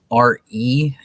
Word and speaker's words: Re: RE is how the Egyptians pronounced Ra. It was Re, and it was spelled RE in Egyptian for what letters they had for R and E.